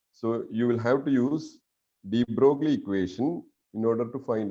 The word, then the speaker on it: de Broglie: So actual pronunciation is de Broglie, but people used to say de Broglie, right?